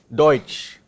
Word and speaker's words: Deutsch: Wie buchstabieren wir Deutsch auf Deutsch? D. Wir lernen Deutsch. D. E. U. H. Deutsch. Da haben wir noch eine Kombination. What is the sound of this? Oi. Deutsch.